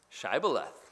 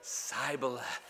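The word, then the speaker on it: shibboleth: me they would say say now shy beleth but he would say cybeleth because he could not pronounce it correctly he had a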